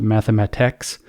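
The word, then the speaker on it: mathematx: It's spelled mathematic all the way to the C, to the T. It's very hard to say this, and then just ends with an X. It's not ends with TIX. It ends in TX. Like the word just stops.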